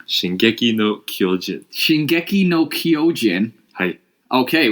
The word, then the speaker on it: Shingeki no Kyojin: And J-Wang, can you pronounce it for me? Because I don't really know what I'm saying. Shingeki no Kyojin.